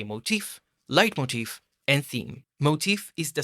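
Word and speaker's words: leitmotif: Now a light motif or as some pronounce lit motif is an idea originating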